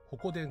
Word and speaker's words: 鉾田: 紹介するのはホコデン公園ホコ天と読みます作品の中で